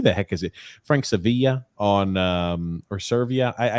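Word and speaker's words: Seravalli: so i couldn't hear please somebody pronounce his name so i'm not pronouncing it wrong it's sarah valley okay sarah valley said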